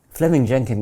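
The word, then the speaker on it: Fleeming Jenkin: So Fleming Jenkin was simply, it's written Fleming, but it's pronounced Fleming.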